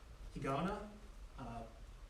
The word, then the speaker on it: Higaonna: Higaonna, pronounced a little differently because Okinawan, but Higashi, Higaonna.